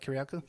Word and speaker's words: Kiriakou: it's news articles saying that John Kiriakou, I pronounced that correctly, right, Kiriakou?